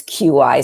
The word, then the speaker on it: qi: It's, when you spell it, it's CH''I. That's how we usually write it in English. Sometimes it's QI, so people, if you see that, CH''I or QI, it's qi.